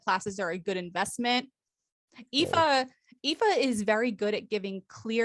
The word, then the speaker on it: Aoife: So that's how her name is spelled, but it's pronounced Aoife, in case you didn't know.